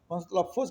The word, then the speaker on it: تلفظ: وہ مفتوح کہلائے گا۔ تلفظ کے لفظ میں تے اور لام دونوں مفتوح ہیں، یا عمل میں عین